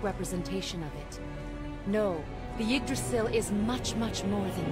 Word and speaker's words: Yggdrasil: Yggdrasil. But what I read is it has to be pronounced more like Yag. Yag. Like egg.